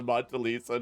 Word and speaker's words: Mona Lisa: You're sitting there holding the Mona Lisa, just like, is it called the Mona?